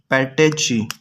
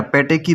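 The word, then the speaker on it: petechiae: That is known as पैटेची. इनको हम पैटेची बोलते हैं या पैटेकी भी बोल सकते हैं. पैटेची बोले या पैटेकी बोले, वाट ever you need, watt ever you want, you can pronounce it.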